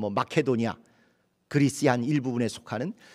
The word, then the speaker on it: 마케도니아: 절박하고 힘든 마켓 오냐 여기는 마게도냐 오늘날 발음으로 마켓 오냐 그리스 1일 부분에 속하는